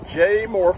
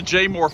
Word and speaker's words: Jaemore: Today, Joan and I are at Jaemore Farms.